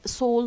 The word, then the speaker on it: Seoul: Here in Korea, we have a shop, and this it's a name, Seoul Made. Seoul here is the name of the Korean capital, and it rhymes, or it's identical in pronunciation to the word Seoul Made.